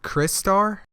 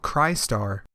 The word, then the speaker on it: Crystar: Chris Starr cry star I believe it is called cry star but regardless of his